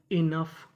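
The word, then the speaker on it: enough: अगर आपको इंग्लिश में कहीं पर यूजीएच लिखा मिले तो यूजीएच को पढ़ते हैं फ क्या पढ़ते है फ यहां पर हमारा ओ साइलेंट रहेगा तो मीनिंग क्या बनी इनफ इनफ इनफ का मतलब होता है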